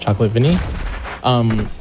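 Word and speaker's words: ChocolateVanille: If you want to follow me, you can do that on Twitch at Chocolate, but with an E at the end instead of an A. It's pronounced Chocolate Vinny.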